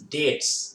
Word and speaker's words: debt: To pay his debts. D-E-B-T-S. B is silent. D-E-B-T, debt. Debt.